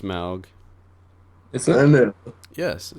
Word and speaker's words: Smaug: It is pronounced Smaug.